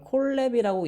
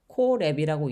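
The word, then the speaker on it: Colab: 이걸 콜랩이라고 읽는 사람들도 있고 콜앱이라고 읽는 사람들도 있는데요. 저는 콜앱이라고 지금부터 이야기를 하도록 하겠습니다.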